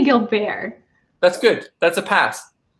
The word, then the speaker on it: Gilbert: And the proper pronunciation of that, if I'm saying it fully with like my French accent, it's Gilbert.